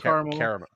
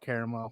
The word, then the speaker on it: Carmel: it like is it Carl car caramel it's pronounced carel carel but if you want to piss the people the uppity white folk up there call it caramel watch them lose their it's